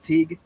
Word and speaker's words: Teague: I saying that right Teague yes like baseball league Teague like baseball league y it helps people